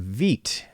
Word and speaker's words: Vite: what I think of Veet apparently even though it's spelled white Americans are going to say white um I mean I